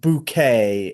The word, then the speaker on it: Bucket: and she play the the main character is this woman named Hyasin Bouquet. It's spelled bucket but pronounced bouquet.